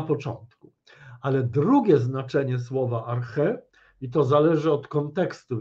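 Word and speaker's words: ἀρχή: filozofii początek inaczej zasada po grecku to brzmi Arche w wymowie klasycznej archiwum greckim Co to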